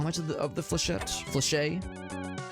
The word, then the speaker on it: Flechette: how much of the Flechette? Flechet? How do you guys pronounce it? Is it Flechet or Flechette? I always assume it's Flechette, but it feels like it should be French.